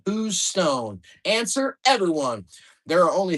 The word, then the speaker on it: Houston: Houston, pronounced Who's Stone?